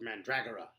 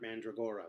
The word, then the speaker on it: Mandragora: at the Masque of Mandragora. No, not Mandragora, Mandragora. Mandragora. You're putting the emphasis on the wrong syllable.